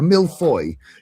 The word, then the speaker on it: millefeuille: A millefeuille, yeah. It's not Millefeuille. It's millefeuille. Shh. That's not how you pronounce it in France.